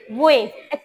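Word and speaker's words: wave: হ্যাঁ, ও ডব্লিউটাকে উচ্চারণ করতে গেলে একটু ভি এর মতো, একটু কিঞ্চিত ভি এর মতো একটা ইফেক্ট আসবে। হ্যাঁ, ওয়েভ, ভয়ের মতো উচ্চারণ করতেছি আমি, দেখো, ওয়েভ।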